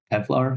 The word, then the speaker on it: Kevlar: Kevlar with a P? Kev. Like Kevin Lar.